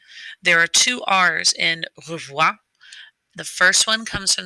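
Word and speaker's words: au revoir: say goodbye it's a looks like it would be a three-syllable word but it's actually a two-syllable word and that r that's there again comes from the back of your throat there are two r's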